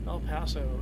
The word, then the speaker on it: El Paso: El Paso is how it's pronounced.